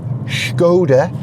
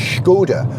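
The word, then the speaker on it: Škoda: it called the circumflex it's got little accent over the S which means you have to pronounce the S as a sh so it's schod you got to imagine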